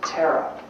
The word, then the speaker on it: Tara: employs the same as tara spelled ta ra which is the Buddhist goddess of compassion phonetically Tara is the same as terror Tula is called the